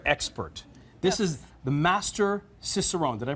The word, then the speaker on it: Cicerone: This is the Master Cicerone. Did I pronounce that properly? Yes, Master Cicerone.